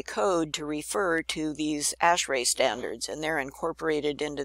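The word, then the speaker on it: ASHRAE: standards for HVAC stuff is called ashray that how you say it ashray and that stands for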